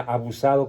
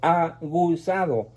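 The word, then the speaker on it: aguzado: literatura me dijo que no se dice abusado con vos se dice ha gustado con g me abusa miento de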